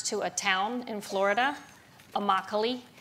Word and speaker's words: Immokalee: a town in florida immokalee which it rhymes with broccoli it's a labor reserve